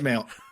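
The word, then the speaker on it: Mayl: Her her name is spelled M A Y L. Mil. Yeah, Male. Okay. It's Male.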